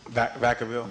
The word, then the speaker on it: Vacaville: Now, how do you pronounce where you live? Vacaville? Vacaville.